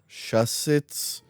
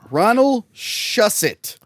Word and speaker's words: Shusset: Ronald Shusset. No S at the end.